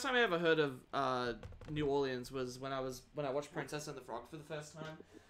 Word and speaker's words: New Orleans: Everyone in that movie pronounces it Nolans. Yeah, that's because how people in Nolans pronounce it.